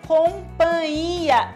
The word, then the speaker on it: companhia: em boa companhia companhia não se deve é o certo é companhia esse NH da palavra se pronuncia companhia já ouviu alguém dizer